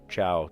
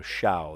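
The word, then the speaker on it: tchau: But for sure, ciao. And it's spelled really weird. T-C-H-A-U. And if you were to just say like, oh, C-H-A-U, that would make a sh sound. So shao, that doesn't make sense.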